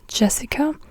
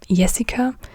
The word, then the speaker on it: Jessica: And the J, like with J, J is not pronounced like in English. In English you say, as an example now, let's just use my name. So in English you would say Jessica, but in German you say Jessica.